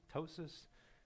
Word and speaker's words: ptosis: smaller pupil ptosis okay you don't pronounce the p ptosis which is the droopy